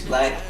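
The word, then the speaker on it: 6LACK: I'm listening to 6 Black. It's pronounced black.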